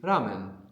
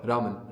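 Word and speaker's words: ラーメン: So, this is the Japanese R, right? So, it's going to be between an R and an L.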